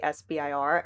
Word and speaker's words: SBIR: It is perfectly acceptable to say SBIR.